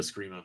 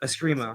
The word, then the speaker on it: eskrima: I always call it a screama, but eskrima.